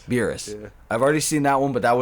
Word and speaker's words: Beerus: Beerus.